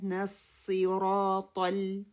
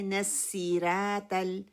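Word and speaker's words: الصراط: ہم کرتے کیا ہے یہاں پہ غلطی، صاد کو سین میں بدل دیتے، نسی را کو بھی موٹا نہیں کرتے، اور تا کی بجائے تا 2 نقطوں والی ہے وہ پڑھ دیتے ہیں. ہونا تو یہ چاہیے تھا نصراط ہم پڑھتے ہیں نصیرات نصیرات.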